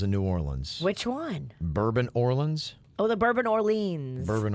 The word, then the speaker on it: Bourbon Orleans: kids you're right so should it be properly pronounced New Orleans no so that hotel is the Bourbon Orleans but it's actually New Orleans okay but it's